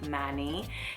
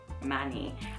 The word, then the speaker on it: Manny: The Americans pronounce it Manny, and actually I first heard the American pronunciation of it and I just fell in love because I just loved the sound, Manny. I loved it, but of course, you know, the English we say Manny.